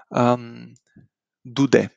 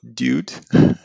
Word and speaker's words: dude: Dude. This is not dude. It's dude. The accent is on e.